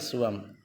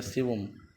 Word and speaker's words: سیوم: شراب پیتا ہی نہیں۔ حکایت سوم یا سیوم، سوم یا سیوم، سیوم زیادہ صحیح لفظ ہے، سیوم یا سیوم بھی کہتے ہیں، سویم بھی کہتے ہیں، الگ الگ اس میں تلفظ ہیں۔ حکایت سیوم، تیسری حکایت،